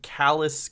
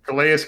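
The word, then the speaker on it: Calais: And then so you got uh Nick Rallis who's uh talking about coaching the defensive lineman Callus Campbell. Is that how you say his name? Kas Campbell.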